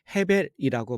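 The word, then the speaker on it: הֶבֶל: 아벨은 히브리어로 헤벨이라고 발음을 하는데 그 이름이 공허하다, 모든 것이 헛되다라는 뜻을 가진 이름입니다.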